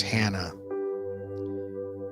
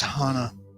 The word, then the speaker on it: Hana: you see someone say her name is hannah gently correct them and say it's hana you know like maui like the drive to hana so i uh i